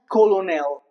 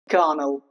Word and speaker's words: colonel: It's not colonel. That's wrong. It's gnel. Garnell. Okay. here. Uh, even the even the two O's are connel. Connell. It sounds weird.